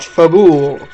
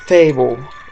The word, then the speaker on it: Fabul: Not Fabul, Fable, in my pronunciation.